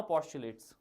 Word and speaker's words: postulate: Now postulates. Okay, how to pronounce this? Posh, P-A-W, you can say. Chu, C-H-W, and late. Postulate.